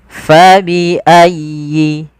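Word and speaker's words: فَبِأَيِّ: lafal huruf fa fa ingat huruf Fa ini tidak boleh diganti dengan P misalkan ini kesalahan yang sering terjadi di anara kita ya terutama Orang Indonesia itu mengganti huruf Fa dengan huruf P ya harusnya Fa Bagaimana cara melafalkannyaal ada angin yang dikeluarkan karena Fa salah satu sifatnya sifat hamitu nnya nafas kita maka fa fa Kemudian faii fabiayyi Kemudian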